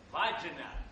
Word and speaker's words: Wagner: Come lo dice lei, si scrive W-A-C-N-E-R, ma si legge Wagner.